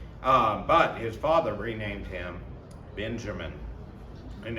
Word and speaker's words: Benjamin: his father renamed him benjamin and as we discussed that maybe would more properly be pronounced ben hameen because of the uh hebrew term although actually the hebrews